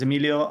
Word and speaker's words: Emilio: My name is Emilio.